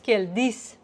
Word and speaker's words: keldingiz: And this one, dingiz, is the way we spell it, but we can also hear dis. Siz keldis.